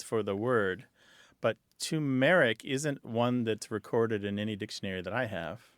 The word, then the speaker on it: turmeric: The other night at dinner, my mom was making something, and she said, I'm using turmeric, and I always heard it turmeric, so I said she was wrong.